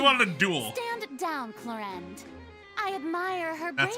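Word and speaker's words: Clorinde: Stand down, Clorend. I admire her That's how bravery. you pronounce the name. I thought it was Few have the Chlorine.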